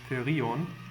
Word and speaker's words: Therion: background is Therion, or as it should be pronounced, Therion, which is a Swedish metal band that's also quite old, actually.